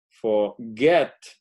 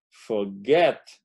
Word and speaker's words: forget: En ese caso, entonces, sí duplicamos la última sílaba, beginning, doble N, forget, forget, son dos sílabas, el get es el que tiene el acento, the stress, se dice